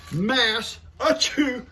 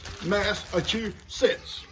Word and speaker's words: Massachusetts: And she says, say, Massachusetts, like I'm gonna sneeze, Massachusetts.